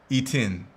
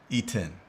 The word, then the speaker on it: Etienne: E10. Oh, thank you for the correction. E10. Etienne. I got to give a pronunciation charts in front of me.